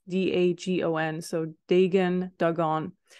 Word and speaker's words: Dagon: regaining his strength and destroying the temple of Dagon. And I don't even know if you pronounce it that way. It's D-A-G-O-N, so Dagon, Dagon.